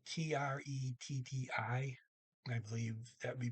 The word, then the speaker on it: tretti: But when you have a double consonant, regardless what two they are, it often causes the vowel to shorten.